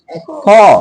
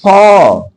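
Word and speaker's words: faux: X केवल पूरे English में एक ही जगह साइलेंट रहता है, एक्स, फॉ, एक्स नहीं बोलेंगे, फॉ। आगे यहाँ जेड केवल 2 जगह साइलेंट रहेगा, वो भी फ्रेंच वर्ड में। इसको लेज फेयर, यहाँ पर रेंडवस, क्लियर, रेंडवस क्लियर।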